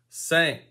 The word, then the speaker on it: cinq: Sank.